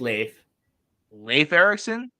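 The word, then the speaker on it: Leif Erikson: all and I did yeah it is it's pronounced Leif Leif Ericson yeah it's it's nor it's uh oh yeah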